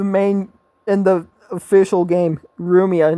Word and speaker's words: Rumia: can understand Because in in Japanese the pronunciation for L just doesn't exist. So which is why it's it's Ria in the main in the official game. Rumia, not Lumia.